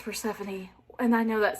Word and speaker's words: Persephone: I always, for years, have called her Persephone, like in my head, because that's how to me it like is spelled. I know it's Persephone, and I know that